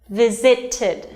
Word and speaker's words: visited: Now, for example, the verb visit has only 2 syllables, but if you add ed after the verb, it's gonna be 3-syllable verb, and it's pronounced visited.